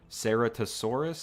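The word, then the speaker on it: Ceratosaurus: i butchered the pronunciation the sarah sarah tosaurus is how you say it though the one horned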